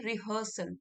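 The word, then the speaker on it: rehearsal: Spelling देख लीजिए यहां पे। री है तो स्पेलिंग हियर बट हम इसको बोलते हैं रिहर्सल रिहर्सल मतलब कि कोई प्रैक्टिस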